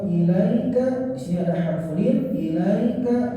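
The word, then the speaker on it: إليك: di sini ada harful ilaika lembut saja cara bacanya jangan sampai ke vokal E tapi ilaika ilaika tapi ke I Fala Yakun Fala Yakun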